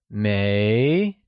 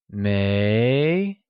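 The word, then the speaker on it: 没: the second one is May pronounced with a mid rising tone it is said as May the verb to have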